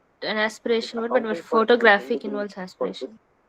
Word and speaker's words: photographic: In photographic, the stress is on the word graph. I mean, the syllable graph. Third syllable is stressed.